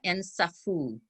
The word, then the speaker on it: Nsafou: Okay, this particular book, Comme un million de papillons noirs, the name of the author is Laura Nsafou. That's how they pronounce her name.